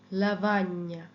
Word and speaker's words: lavagna: যেমন GNO, GNO, GNO, GNA, GN এর সাউন্ডটা হয় ঞ। এটা একটা যেন দন্তন্যটা একেবারে তালুর সাথে লাগিয়ে কিছুক্ষণ তারপর এটা ছাড়তে হবে, নিয়ম। ওকে, নিয়ম, gnocchi, gnocchi, legno, legno, Spagna, lavagna, gnomo, gnocchi, legno, Spagna, lavagna।